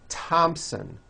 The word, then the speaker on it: Thompson: spelled with a th they are pronounced as if they were spelled with a normal T like that and these words are Thomas Thompson Teresa Thailand Thames like